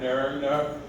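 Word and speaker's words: Nøgne Ø: with five rabbit and nerdner the Norwegian that's how they say it they're uh the Norwegian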